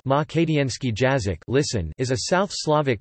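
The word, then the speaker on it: македонски јазик: Makedonski, pronounced Makedienski Jazik, listen, is a South Slavic language spoken as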